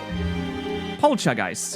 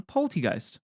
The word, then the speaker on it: Poltchageist: Poltchageist. Am I saying it right? Poltchageist? It's like chai, right?